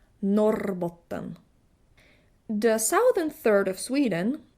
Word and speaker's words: Norrbotten: The 2 northern thirds of Sweden are rolling the R. R. Norrbotten.